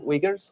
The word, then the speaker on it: Wiegers: come and share the story uh with wiggers did I pronounce it well yes that's fine yes I'm